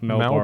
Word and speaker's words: Melbourne: Like I feel like people from Melbourne don't pronounce R's very well.